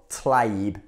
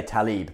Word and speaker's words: Tlaib: So this act was proposed by Democratic Congresswoman Rashida Tlaib, or Tlaib, the L comes before the A. Most people say Tlaib, but anyway, along with another congresswoman whose name is also hard to pronounce.